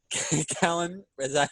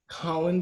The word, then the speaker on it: Kahlen: very special guest today we got callum pronounced your name colin barry holland we got collin barry um big super